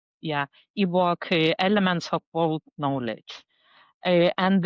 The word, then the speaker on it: EWoK: Am I pronouncing that right? Yes. Yeah, EWoK, Elements of World Knowledge.